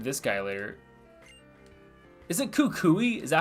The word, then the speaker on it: Kukui: Is it Kukui? Is that how you say his name? Kukui?